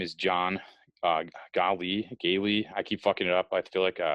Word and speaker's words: Gaali: of renditions i've i used to get a golly all the time when i was a kid